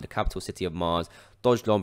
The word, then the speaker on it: Dogelon: renamed it after the capital city of mars dodge long pronounced not dodge elon because they would be a migrant and if